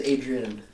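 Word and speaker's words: Adri'enne: Can we pronounce it that way? Yeah, Adrian.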